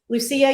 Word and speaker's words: Lucia: that you always gotta run down who is Lucia how do you say how you say your